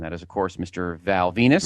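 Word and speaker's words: Val Venis: Val Venus. Rhymes with penis. Which he does not say. Hmm. Rhymes with penis. He does not want it to rhyme with penis.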